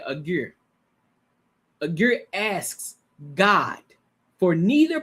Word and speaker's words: Agur: Agur.